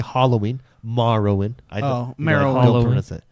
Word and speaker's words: Morrowind: free down you say morrowind I've always called it Mara win I've got morrowind huh you been saying it wrong for like 10 years I've been saying